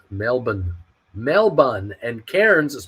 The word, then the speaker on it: Melbourne: is by far Melbourne Australia it is also pronounced Melbourne melbon and Cairns is pronounced cans they like to